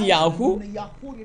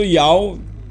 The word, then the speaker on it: Yahweh: You couldn't say Yahoo. So everyone pronouncing Yahoo false. You made a mistake. Or you made the name of the Father God Yahoo. You made a mistake. What the sweet made the truth? Shemot. So Yahweh, where H, that is authority in Hebrew. Yahweh is the pronunciation. Yahweh in Hebrew.